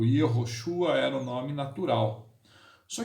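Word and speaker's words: יהושע: Lá no hebraico, o nome de Jesus é Yehoshua.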